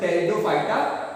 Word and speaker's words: Pteridophyta: पी इसका silent होता है, इसको टेरिडोफाइटा पढ़ा जाता है।